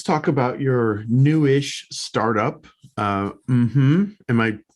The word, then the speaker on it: Mmhmm: Mmhmm. Am I pronouncing it correctly? Yeah. Mmhmm.